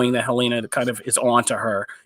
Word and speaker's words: Helena: Apparently, there's been a lot of controversy about Helena. Am I saying it right? Yeah, about Helena.